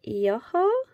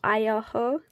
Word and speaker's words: Ioho: Ogham, it's pronounced Ioho or Ioho.